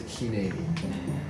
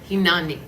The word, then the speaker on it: Hineni: One little note, pronunciation of is Hineni. Hineni. Hineni. Hineni. Like Hineni. Yes. That would be a really big note. I'm going to recite a prayer called Hinani.